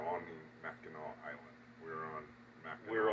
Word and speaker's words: Mackinac: There are 3 spellings that you will see, which is Mac, INAC, INACK, and INAW, and they're all pronounced Mackinac. It's started out as a French word, and I think they could get away with the NAC that sounded like a W.